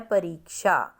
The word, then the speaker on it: परीक्षा: अब देखो ये वर्ड हमारा होता है परीक्षा, मतलब कि र पे बड़ी की साउंड आ रही है, बड़ी ई की साउंड है, तो हमने इसको लिखना